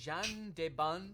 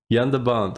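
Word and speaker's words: Jan de Bont: Director of photography Jean Debon. There's absolutely no way I pronounced that correctly. Jean Debon needed 120. Hey, it's Jan. Jan de Bond.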